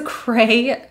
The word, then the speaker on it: cray: crazy that was a cray insane response this is a diphthong vowel a ending with that e sound a dead ass this